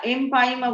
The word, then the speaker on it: empyema: এমফাইসিমা বলতে চাচ্ছ না এমপাইমা বলতে চাচ্ছ? এমফাইসিমা মানে কি? এমফাইমা ম্যাম, এমপাইমা, ঠিক আছে? বানানটা খেয়াল করবে, EMPYEMA, এমপাইমা, নট এমফাইসিমা।